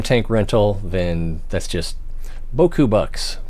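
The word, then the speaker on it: beaucoup: that's just boku box or buku box well in french it's boku and i guess vietnamese it's buku i i don't know that's that's the way they say it in the vietnam movies all right so um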